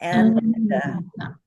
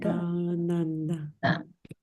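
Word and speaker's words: आनन्द: So the colored lines again help us know that the very first syllable, which is just is pronounced long, nanda. And the second syllable, nun, and the third syllable, da, are pronounced as short notes, quarter notes, nanda.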